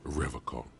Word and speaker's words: Revachol: But someone has to stay strong for Revachol. He pronounces Revachol with a hard K, unlike other people.